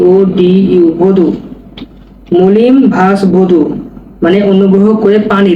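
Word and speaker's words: molim vas: মলিম ভাস। মলিমভাস। পানি দিনকে বলব ভদু। ভদু তখন বাক্য প্রয়োগ করলে ওই উচ্চারণ হবে না।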